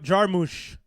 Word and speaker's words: Jarmusch: Mobs wrote Jarmusch. That's how you pronounce it.